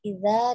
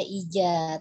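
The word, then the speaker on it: إذا: Sedikit untuk pengucapan ya Umi, tadi beberapa kali terdengar iza dibaca ija, tapi pas di akhir sudah diperbaiki iza.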